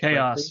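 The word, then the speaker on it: KaOS: vertical for a while I think chaos are Ka OS I forgot how it's pronounced chaos yeah okay they have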